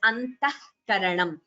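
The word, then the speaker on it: अन्तःकरणम्: When a visarga is followed by ka, say antah karanam. When we pronounce it together, we pronounce it as antah karanam. So that that sound which you hear instead of the visarga, that is Jihvamuliya.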